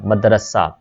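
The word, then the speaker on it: مدرسہ: मदरसा, meme के ऊपर ज़बर है और रे के ऊपर भी ज़बर है, मदरसा।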